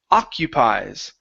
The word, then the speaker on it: occupies: here for you is the word occupies so the first o is an A and in the ending that's an I sound so occupies occupies good